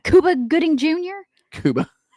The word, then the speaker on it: Cuba: Kuba.